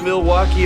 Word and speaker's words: Milwaukee: Do you come to Milwaukee often? actually is pronounced milwauke for the good land.